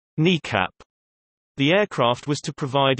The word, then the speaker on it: NEACP: The E-4 fleet was originally deployed in 1974, when it was termed National Emergency Airborne Command Post (NEACP), often pronounced NECAP.